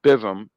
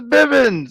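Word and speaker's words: Bivens: his manager was uh malcolm bivim bivim i know i butchered that man's name oh it's bibbins okay um he gets to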